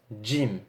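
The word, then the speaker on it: جيم: diffère légèrement en fait l'être jim qui en phonétique ses cris j à l'oral c'est comme s'il y avait un petit des devant dieu jim d'accord et non gym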